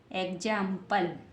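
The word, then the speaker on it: example: हुआ ई एक्स ए एम पी एल ई एग्जांपल क्या बन गया एग्जांपल एक ज आ में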